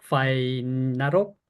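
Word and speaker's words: ไฟนรก: 그다음에 파이나록 파이 자 F 발음으로 파이 짧게 나록 나록 가면 지옥불이 되겠습니다.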